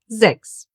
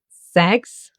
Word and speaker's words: sechs: Why is it not pronounced as sex? Because most of the time in the German language, an S at the beginning of a word will be pronounced like a Z.